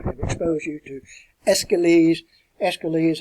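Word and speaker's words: Aeschylus: expose you to escalate escalates it doesn't look like it would be pronounced that way but that's the way it is pronounced who wrote persians agamemnon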